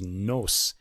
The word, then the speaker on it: noce: But I was wondering because there's no French word voce, but there is noce, which is pronounced nos.